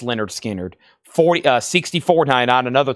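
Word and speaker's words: Lynyrd Skynyrd: And Leonard Skard, pronounced Leonard Skard, 40 uh $64.99.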